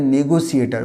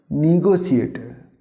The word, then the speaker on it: negotiator: আমরা এটাকে নেগোসিয়েটার বলি না, এটাকে নেগোসিয়েটার বলবো না, এটাকে আমরা বলবো কী হবে? নেগোসিয়েটার। এর সঠিক উচ্চারণ হবে নেগোসিয়েটার।